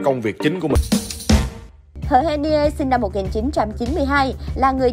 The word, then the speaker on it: H'Hen Niê: 2017 thì đều biết tên của tân hoa hậu được đọc là Hờ hen ni e, và đây cũng là cách đọc chính xác nhất theo tiếng Ê Đê.